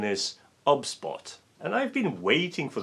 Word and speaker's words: OBSBOT: going to talk about a very special webcam obs bought tiny 4k it's been pointed out that i'm pronouncing it incorrectly and the correct pronunciation is obspot and i've been waiting for the release of